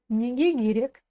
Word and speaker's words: неге керек: Так вот, друзья, товарищи, я его сначала читаю как керек, но в предложении вы слышите другое, негегирек, через букву Г. А все почему? Потому что в слове неге последней буквой идет гласная. А если гласная сочетается с согласной буквой, в данном случае с буквой К в другом слове, то эта буква К звучит как буква Г. Вот так вот.